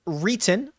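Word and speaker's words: Reitan: Christopher Reeton, I believe is how he pronounces it.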